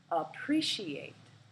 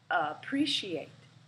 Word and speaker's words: appreciate: Appreciate, appreciate. We can see that the first syllable is the schwa, and we have separated the syllables into 4 parts. Appreciate. Appreciate has 4 syllables.